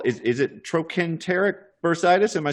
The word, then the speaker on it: trochanteric bursitis: regenerative medicine and a condition called, is it trochanteric bursitis? Am I saying it right? Yeah, it's trochanteric bursitis or greater trochanteric bursitis, yes.